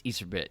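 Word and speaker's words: Iserbyt: It's Iserbit.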